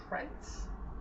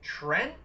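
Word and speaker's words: Trent?: Then out came Trent. Yes, apparently that is how you say his name now. You have to pronounce the question mark because reasons.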